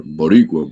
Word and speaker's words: Boricua: Boricua, bro.